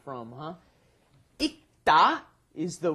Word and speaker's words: 읽다: 읽다, because when it is followed by a consonant, then you must not pronounce it fully. You don't bring up the L sound, so it becomes 읽다 or 읽는다 because it's followed by a consonant here again, the N, right?